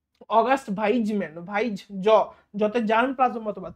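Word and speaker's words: Weismann: মানে আধুনিক আধুনিক সংশ্লেষ মতবাদ তাই না অগাস্ট ভাইজম্যান ভাইজ জতে জার্ম প্লাজম মতবাদ পরীক্ষায় প্রশ্ন আসবে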